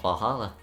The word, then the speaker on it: VA-11 HALL-A: The name sounds silly and a bit hard to pronounce. Good thing it's actually called Valhalla. The funny numbers and letters are just the code.